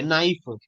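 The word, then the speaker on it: knife: international phonetic association की के silent होता है आप नाइफ पढ़िए के नाइफ नहीं होगा यह चीज समझ में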